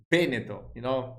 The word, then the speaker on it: Veneto: Most of the times the stress is in the first part of the words. You understand? Like Veneto is Veneto, like Davide is Davide, you should.